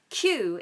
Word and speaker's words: queue: wait in the queue Q is spelled q u e u e all those vowels but we very simply just say Q just like the letter Q um okay so the